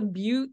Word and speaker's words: Butte: just say is the Butte St Paul State Recreation Area okay I'm pretty sure that's pronounced but but I see this Recreation